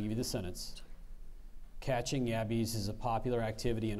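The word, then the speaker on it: yabbies: any let me give you the sentence catching yabis is a popular activity in Australia so much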